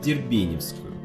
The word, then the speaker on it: Дербеневская: И тут я вспомнил, что недавно платформу «Москва-Товарная» Павелецкого направления в Москве переименовали в Дербеневскую. Да, ударение именно такое, и буквы «ё» в этом слове нет. Я сам бывало неправильно его произносил.